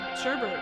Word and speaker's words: sherbet: understanding how to, say sherbet or Anyway, yeah, the way you say it properly. Sherbet. Sherbet. Like Jay Sherman and Bert and Ernie had a baby, and its baby was named Sherbet.